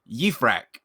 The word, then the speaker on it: Yifrach: Yifrach.